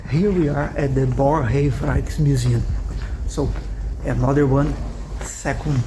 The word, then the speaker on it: Boerhaave: Okay, so first thing, the correct pronunciation is Borrhaave.